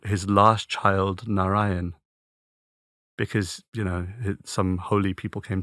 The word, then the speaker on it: Narayan: The mantra that I've chosen is one which is pronounced Narayan, Narayan.